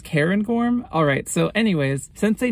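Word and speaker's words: Cairngorm: I looked it up I guess it's pronounced Karen gorm alright so anyways sensei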